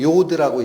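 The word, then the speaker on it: יוד: 이 이름은 요드라고 읽힙니다.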